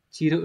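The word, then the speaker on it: 散る: Động từ gốc là chiru có nghĩa là rơi rụng. Tôi ngắm hoa anh đào rơi rụng, đúng không? Rất là đẹp, rất là nên thơ. Cái chữ tả này nó sẽ có cách đọc là chiru này.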